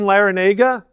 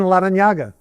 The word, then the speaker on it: Larrañaga: I say my name is Jim Larranaga. That's not right. My grandfather was born and raised in Havana, Cuba. His name was Juan Larranaga.